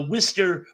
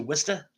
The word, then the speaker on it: Worcester: So what do you think the Worcester native would have a connection to Worcester? And yeah, you have to say it like that, Worcester, not Worcester.